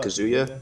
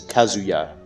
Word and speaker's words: Kazuya: How do you feel about Kazuya? Oh, actually, I pronounced it wrong again. It's Kazuya.